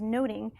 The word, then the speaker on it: nothing: that much about nothing the word nothing in the Renaissance was actually pronounced as noting and so it was